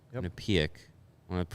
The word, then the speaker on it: Quinnipiac: Quinnipiac. Yep. Quinnipiac. I want to pronounce it right because there's people that will get on my case if I pronounce it incorrectly.